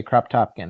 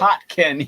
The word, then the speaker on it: Kropotkin: I was just about to say, except I was going to say Crop Topkin, and I know that's not how it's pronounced, but Kropotkin.